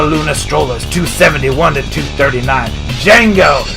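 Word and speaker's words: Django: strollers 271 to 239 Jengo the D is silent losing to the hopkinton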